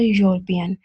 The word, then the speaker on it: European: pronounced with H and those U words that begin with a Y sound. For example, European. If we were to spell that phonetically, it would be European.